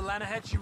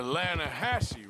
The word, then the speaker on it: Lanahatchee: The other day, I rode down to the Lanahatchee River. I caught some beautiful steelhead trout. You mean the Lanahassee River? No. The Lanahatchee. It runs right near here. Yeah, but it's pronounced Lanahassee.